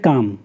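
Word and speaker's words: calm: example मतलब इसमें दिखाया काम काम का मतलब होता है शांत सीधे लिस्ट में साइलेंट है आप काम पढेंगे ठीक है उसकी शांति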